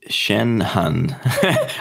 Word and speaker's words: Shanhun: people find you cool Shen hun I say it like that at gigs because it's like my name's spelt funny right and if we